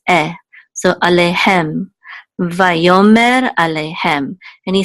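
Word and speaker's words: ויאמר: The aleph is silent, so it's part of the o sound, so vayo. There's a mem with a sigil and a resh which says mer, vayomer.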